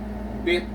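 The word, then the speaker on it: 빚: So this time it is sounded as T or pronounced as T, because this is read as bit.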